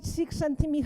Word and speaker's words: Csikszentmihalyi: And the problem is with this person's surname, because the work is absolutely amazing, but Michali, Csikszentmihalyi Mihaly, can you remember that?